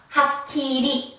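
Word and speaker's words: はっきり: 그럼 이거를 발음을 하면 우리 한국식으로 발음하면 얘가 한음이기 때문에 하키리, 하키리가 돼요.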